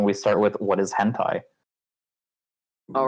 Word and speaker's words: hentai: that there was a hentai convention but my dad pronounced it as henti and was very confused and yes I had